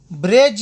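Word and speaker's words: bridge: ډي توری کله چې د جې یا جی څخه مخکې راشي نو د ډي توری نه تلفظ کېږي، ساکن کېږي. لکه اگزامپل: اجیکټیو یا صفت. بریج یعنی پل.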